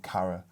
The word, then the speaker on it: kara: So, but they're both pronounced kara and kara.